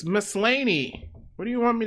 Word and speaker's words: Maslany: Tatiana Maslany. Mussolini?